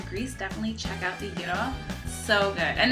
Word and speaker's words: gyro: try is having Greek gyro. It's not pronounced gyro, it's pronounced gyro.